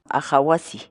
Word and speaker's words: aqha wasi: de videos en la que te enseñamos a pronunciar algunas palabras en quechua Así que nuestra palabra del día por hoy es awasi awasi awasi la palabra quechua aw en español